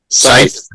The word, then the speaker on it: scythe: Scythe. Yep, that's how you say it. It's spelt funny. It's SCYTHE.